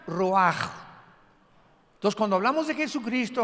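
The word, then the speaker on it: רוח: Y la palabra para espíritu en el versículo 29 es la palabra, se escribe ruach, como suena con R de Raúl, CH al final, ruach, y se pronuncia ruach.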